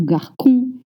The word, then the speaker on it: garçon: The C comes with a cédille. The The CD is this little sign that you see in French under the C. It turns the K sound into a S sound, like 7.